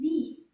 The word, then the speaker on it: nid: The D in this word is quiet. It doesn't make a sound at the end.